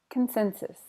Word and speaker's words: consensus: Consensus, consensus. Stress on the sin.